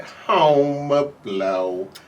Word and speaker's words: Homer Blow: So from Cold Medina, I said, home of blow, home of blow.